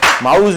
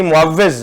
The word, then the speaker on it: معوذ: جو آپ درست ہے جی، صحیح نام آپ نے لینے، نام آپ نے صحیح لیے، معوذ نہیں معوذ نام ہے.